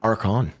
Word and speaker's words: Arckon: Yeah, Arckon.